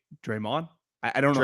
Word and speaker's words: Draymond: You put the emphasis on the Mond. Draymond.